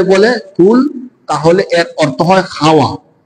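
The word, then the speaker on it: قل: থেকে কুল আলু থেকে কেউ যদি কুল শক্ত করে বলে তাহলে হল বলা বলুন আর যদি নরম করে বলে কুল তাহলে এর অর্থ হয়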